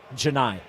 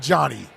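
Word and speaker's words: Johni: Janai. Not Johnny. Not Johnny. Yeah.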